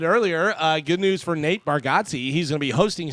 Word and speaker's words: Bargatze: Yeah, It's 'cause Bargatze. Yeah. Yeah, it's no big deal. I was one of the things I was like, all these years, everybody's been saying it wrong. It's just like Bargatze.